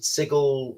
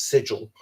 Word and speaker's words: sigil: Uh, you know, I don't know if they they pronounce it sigle. You know, to me it's sigil. That's how you pronounce this word, but um but they've given up on it.